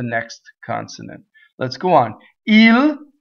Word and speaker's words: il: consonant let's go on île straightforward enough IL I is always e guardo so the O